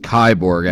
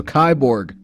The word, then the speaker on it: Kiborg: anyway i'm pretty sure it's pronounced kyborg actually like cyborg given that the main guy behind this band went by the name cyborg in a different band so kaiborg it's russian and uh the homie